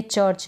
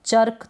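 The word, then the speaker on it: church: अब जैसे यहाँ पर है चर्च, क्या है, ये चर्च है। अब चर्क तो नहीं पढ़ सकते आप, कर्क नहीं पढ़ सकते, तो ये चीज़ तो आपकी प्रैक्टिस से ही इम्प्रूव होगी।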